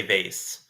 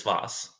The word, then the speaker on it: vase: Uh I think I think I feel like more Americans say Vase, but I I think technically it is Voss.